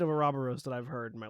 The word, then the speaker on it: Ouroboros: It is officially pronounced Ouroboros.